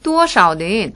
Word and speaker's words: 多少: 多少는 얼마라는 뜻으로, 多는 좀 높게 음을 발음해 주시고요. 少는 짧게 끊어주세요.